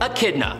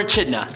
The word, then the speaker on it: Echidna: For example, Echidna or Echidna, however you want to pronounce it.